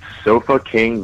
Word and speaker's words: Sofa King: The name of the label is Sofa King Vinyl, and that's spelled SOFAKING Vinyl. That's my kind of. So it sounds like chilling. Sounds like so fucking, but it's kind of a double thing there.